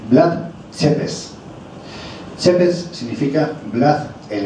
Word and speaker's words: Vlad: He oído todo tipo de pronunciaciones, desde types, como las antiguas cintas de Cassette, es Blat en romano. Y además lo he preguntado a una amiga romana que me lo ha dicho hoy, es Blad Chepes.